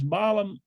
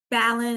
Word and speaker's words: Ballin: Let me hear from, is it Miss Ballum? How do I pronounce it? Ballin is like B, is like Allen with a B.